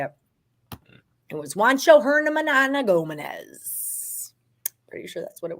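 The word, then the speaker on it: Juancho Hernangómez: It was Juancho Hernan Gomez.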